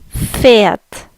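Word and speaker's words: Pferd: horse and German is Fiat Fiat Fiat if you notice the e has a little bit more of an e sound Fiat Fiat Fiat okay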